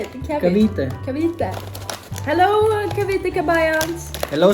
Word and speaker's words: Cavite: Cavite.